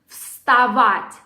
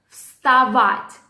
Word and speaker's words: вставать: The word might be challenging because of combination of 3 consonants in a row. В, с, т. Вставать. Вставать. The second A, which goes after V, is stressed.